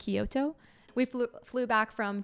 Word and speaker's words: Kyoto: went to Tokyo and Kyoto is that how you say it yes Kyoto we flew flew back